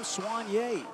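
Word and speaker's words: Sognier: They'll take their hacks to start this game against William Swanier. Spell it S O G N I E R.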